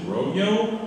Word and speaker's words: Rolo: Rolo is in fact Rolo. Apparently, since it's spelled with two L's, Hispanic and or Latinos pronounce it Rogyo, which is fucking weird.